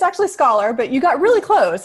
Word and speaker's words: Scholar: And my special guest today is Scholola. Did I pronounce that right? It's actually scholar, but you got really close. It's like scholarship scholar.